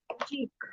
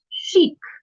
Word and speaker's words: chic: Next one terrace, is cheek, no. This is not cheek. CHEEK is cheek. Cheek. You have two cheeks. That is different. This is chic. SHEEK is the pronunciation spelling.